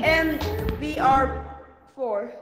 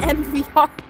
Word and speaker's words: EMVR: EMVR4. That's finally someone pronounced it right. My name is EMVR, not MVR. It's funny, that's what everybody calls me. They say MVR.